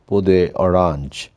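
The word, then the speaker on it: peau d'orange: Anyway, so we go to the other entity, which is called Podhyaranj. Instead of, it should be pronounced as it is. It's a French word, Podhyaranj, the orange peel appearance.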